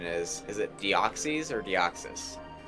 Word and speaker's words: Deoxys: Is it Deoxys or Deoxys? Well, it's derived from like DNA, which is deoxyribonucleic acid. So deoxy, I guess, makes sense. Like That's how I say it.